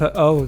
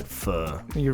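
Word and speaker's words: pho: pronounces words correctly f f oh the the Vietnamese soup dish yeah it's like I don't like when people say F you rather they just say fo exactly well I'm not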